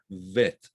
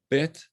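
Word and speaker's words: ב: a bet right now if you pronounce it with a dagesh in it it's a hard sound bet if it's pronounced with amat the dagesh it's pronounced vet bet as opposed to vet let me give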